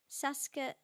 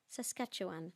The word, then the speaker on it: Saskatchewan: how to say it what is it saskatchewan no that's not right is it sasuke i googled it last night saskatchewan yeah saskatchewan that's right thank you so yes